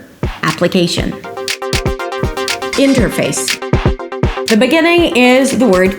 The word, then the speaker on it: interface: Interface. It actually sounds like "in her face".